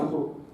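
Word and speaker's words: عمرو: menulis bukan Umar tapi pakai wau ee di akhirnya bacanya Amru ya kalau Ain mim ro wau Amru kalau wauya enggak ada Umar kata Rasul jika salah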